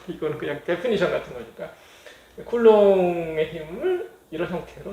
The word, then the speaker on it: Coulomb: 쿨롱 프랑스 사람이라서 발음이 쿨롱이에요. 롱. B가 무음이고 L을 옹으로 읽어요.